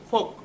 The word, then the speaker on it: Foucault: Actually, that word Foucault is pronounced like Foucault, Michel Foucault, and this person contributed greatly in the 20th century.